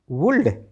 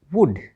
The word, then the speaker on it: would: तो देख लेते कौन कौन से शब्दों में एल डी आता है और कहाँ पर एल साइलेंट रहता है। WOULD वुल्ड नो नो वुड।